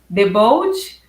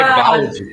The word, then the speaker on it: Debold: Para abrir o nosso evento, temos a honra de ter conosco o professor doutor em educação, Debold. Pronunciei corretamente, professor? Quase. Quase. Debalde, pode ser Debalde.